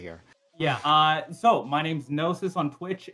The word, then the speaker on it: GNOSYS: Yeah, so my name's Gnosis on Twitch. It's spelled GN0SYS.